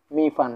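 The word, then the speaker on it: 米饭: তো প্রথমত আমরা নিলাম মি, তারপর হচ্ছে কি, ফান ফান।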